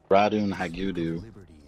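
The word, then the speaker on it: Ratonhnhaké:ton: character Connor or uh radon Hau I believe is the pronunciation it was half Native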